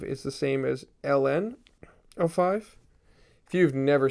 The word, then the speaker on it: ln: up this is red Ln so you would read it like l n like the letters or you might pronounce it as the natural log the natural log uh